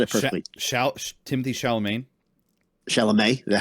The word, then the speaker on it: Chalamet: Timothy Chalamet. Chalamet. Is that how you say it? Chalamet.